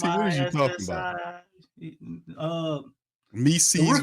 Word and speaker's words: Missi: It's one of them things where Mises rhyme with Reese's. Is that what's going on here? If that's what you like, that's what you into, bro. It's Yves Mises, bro, not Mises.